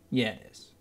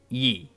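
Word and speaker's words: 一: for the number one which is pronounced ye cannae II but II like a why I kind of Yee it's it's hard to explain I don't know but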